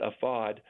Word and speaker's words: AFAD: It's AFAD. They pronounce it AFAD, and that's their version of FEMA.